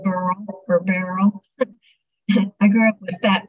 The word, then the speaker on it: Beryl: It's pronounced Beryl, like the first part of the word, Beryllium. Uh-huh. I grew up hating my name because of the way people said Beryl or Beryl.